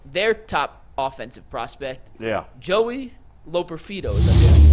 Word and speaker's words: Joey Loperfido: Joey Loperfido, is how you pronounce his name.